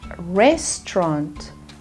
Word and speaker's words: restaurant: stomach okay next one restaurant okay try two syllables restaurant restaurant okay next one woman